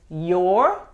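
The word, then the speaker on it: you're: You are es your. Otra vez, es una sola sílaba. No se pronuncia la E al final. Se enfoca en la pronunciación de la R.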